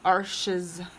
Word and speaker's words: Arches: I'd also be able to buy all the canvases that I wanted and all of the luscious Arches, it's spelled arches, but I believe it's pronounced Arche, watercolor paper that I wanted.